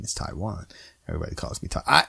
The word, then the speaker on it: Tiawan: But the reality, though, my mom, the way she spelled it originally, it's Tiawan, right? So really, if you think about it, they're right because they're pronouncing the A. You know, that first A.